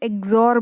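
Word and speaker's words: XOR: इसको हम ए एक्सॉर बी ऐसे प्रोनाउंसिएट करते हैं और इसको इलाबोरेट करेंगे तो ये होता है ए बार B plus A बी बार.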